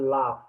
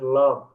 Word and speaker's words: laugh: first part you were mispronouncing the word laugh. You were pronouncing it as love.